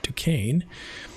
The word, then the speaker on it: Duquesne: He was given control of 2 regiments of regulars and assigned to win back Fort Duquesne. Yes, that's how you pronounce that.